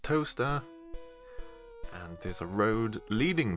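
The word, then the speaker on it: Towcester: your leg it's pronounced toaster yes toaster as in exactly the same as the appliance the kitchen appliance used to make toast it's pronounced toaster and there's a road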